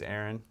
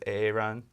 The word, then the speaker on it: Aaron: There was a Key and Peele sketch where there's a teacher that mispronounces names throughout, and one of them's name is Aaron, so it says AA run.